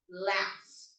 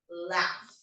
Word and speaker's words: laugh: So we don't pronounce it as gh, we pronounce it as f, laugh, laugh.